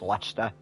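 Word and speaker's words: Leicester: Although the worst pronunciation of anything I've heard is Lester, I heard someone pronounce it like Chester, which made me laugh.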